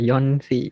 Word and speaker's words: Yonsei: Yong something. Not Yong, like Yonsei.